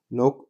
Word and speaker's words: knock: نترك على الأبواب knock on doors. طبعا الكي هنا عندنا هي silent مش هننطقها.